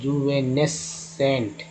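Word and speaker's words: juvenescent: Next है जुवेनेसेंट, जुवेनेसेंट। यहाँ जो सी है दोस्तों, ये सी जो है ये साइलेंट सी है, CS का सिर्फ उच्चारण हुआ है।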